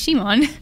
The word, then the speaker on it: Simon: It's like it's spelled Simon, but they even say in the dub as Shimon.